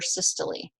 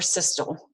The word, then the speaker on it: systole: so this is labeled ventricular systole or systal however you choose to pronounce it diastolic pressure is the